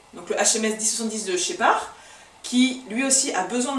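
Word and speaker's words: Scheppach: Donc c'est de la marque Shepard, ça s'écrit Shepash mais c'est Shepard, et c'est le HA1600.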